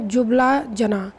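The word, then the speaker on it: Ljubljana: और उसकी राजधानी है जो बला जना एंड साइलेंट रहता है स्पेलिंग उसकी यह लेकिन l पढ़ते नहीं टीम तब ले जाना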